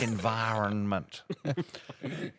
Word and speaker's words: environment: And when a word's got two N's, why would you ignore one of them? It's environment.